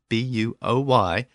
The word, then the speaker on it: buoy: that word buo Y which I pronounced buoy and that is the most common pronunciation of the word in the United States however that pronunciation elicited a great deal of discussion in the comment section of the episode on the website in Britain the pronunciation is boy and it's my understanding that that's also the pronunciation in Australia and it also appears that